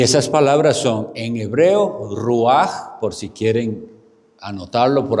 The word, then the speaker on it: ruach: Bueno, es una transliteración, eso es hebreo, pero se escribe ruach, lo escriben así como con che, pero se pronuncia así ruach, y en griego es